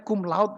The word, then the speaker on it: cum laude: Itu bacanya cum laude, Romo. Ya. Cum laude karena Latin dibaca seperti yang tertulis.